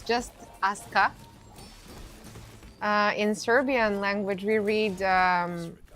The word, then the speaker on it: Aska: Well, it's just Aska. In Serbian language, we read names and words generally. We pronounce them phonetically the same the way that we call the letters.